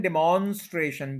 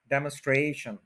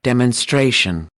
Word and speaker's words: demonstration: डेमोस्ट्रेशन, डेमोन्स्ट्रेशन, डिमॉन्स्ट्रेशन कोई word नहीं है, 4 सिलेबल्स हैं, थर्ड के ऊपर स्ट्रेस है, डेमोन्स्ट्रेशन। सुन भी लें। demonstration, demonstration, demonstration, उसके बाद